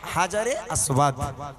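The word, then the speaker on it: الحجر الأسود: ওটার নাম হচ্ছে হাজারে আসওয়াদ।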